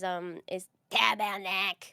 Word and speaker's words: tabarnak: So you know, one of the things, the most classic like curse that you hear in Quebec is tabarnak. That's how they say it.